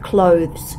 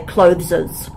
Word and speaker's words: clothes: I was particularly pleased you pronounced clothes correctly a lot of international students say closes ah instead of clothes but you got it